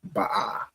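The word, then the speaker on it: בוא: But the word is actually gonna be Ba'a. Right? That would be the pronunciation.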